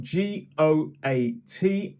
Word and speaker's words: GOAT: of all time yes so goat is spelt g-o-a-t and it is an acronym which stands for greatest of all time but we say goat okay and just to